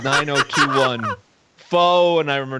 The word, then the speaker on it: pho: Hold on, it's pho, bitch. That is how you pronounce it.